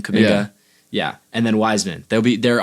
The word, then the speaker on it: Kuminga: That's how you say his name, Kuminga.